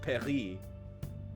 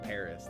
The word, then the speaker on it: Paris: But, of course, every English speaker says Paris. Like, are you going to correct someone and be like, actually, it's pronounced Paris? Don't say Paris. It's Paris. Like, we anglicize words.